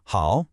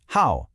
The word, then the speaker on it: 好: You probably know it as hao, third tone, meaning good. But when it's used as a verb here, the tone changes to the fourth tone, hao, and the meaning shifts to be fond of.